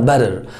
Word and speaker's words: butter: ممكن صوت التاء لما يبقى between two vowels، لما يبقى بين حرفين متحركين بننطقه ده ده ده، يعني دي خفيفة جدا وسريعة جدا، فتقولها butter صح وباتر صح زي ما انت عاوز تقولها، باتر باتر.